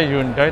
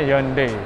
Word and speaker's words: Hyundai: buat para sofa Japu ngomongnya bukan dibaca bahasa Indonesia yundai Tapi bacanya yonde Ya seandainya kebetulan kemarin